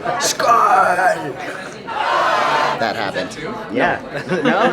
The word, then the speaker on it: Skål: How do you say cheers? Is it skål? Skål.